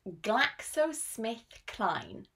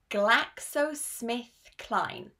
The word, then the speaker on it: GlaxoSmithKline: This is pronounced GlaxoSmithKline. GlaxoSmithKline.